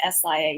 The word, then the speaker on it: Sia: I know it's spelled really weird, but it's pronounced like S-I-A, Sia.